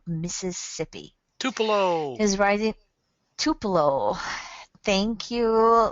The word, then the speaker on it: Tupelo: in oh I'm not going to pronounce this tupo Mississippi t p l o Mississippi Tupelo is rising Tupelo thank you ly from College